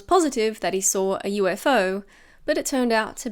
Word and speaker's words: UFO: A little usage tip: we pronounce each letter, so we don't say UFO or UFO. It's UFO. UFO.